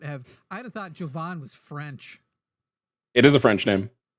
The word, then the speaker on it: Jovan: us, make Jimmy pronounce Jovan. That'd be do not call in to Glaze me. Jovanathan is how I now remember it. Jovan.